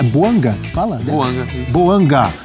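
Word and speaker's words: Bouanga: Buanga e Giru na temporada pelo Los Angeles FC. Giru, campeão do mundo, 17 jogos, três gols e duas assistências. E tá certo a minha pronúncia. É Boanga que fala, né?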